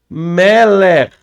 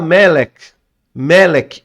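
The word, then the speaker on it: מלך: Tem algumas pessoas que falam Melek, mas e termina com K só, mas o correto não é K, tá? Aí vai depender da dicção, mas o correto, ele é um RAF sufite, e RAF sufite, R, é arrastado. Então, o correto é Meler.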